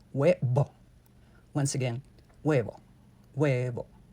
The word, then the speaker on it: huevo: So avoid turning each vowel into 2. It's not huevo, but huevo.